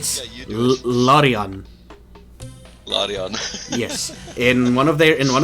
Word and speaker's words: Larian: I was specifically not pronouncing it that way because I didn't think so, but yeah, so it is Larian.